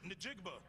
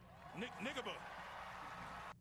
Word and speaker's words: Njigba: guess on his behalf, Jackson Smith Njigba. Nigaba. He mispronounced somebody's last name. Jackson Smith. Did he pronounce it right the first time, Damo, based off of your knowledge, if you know? In Jigba, yeah. Or super close to it. He was on the money at first.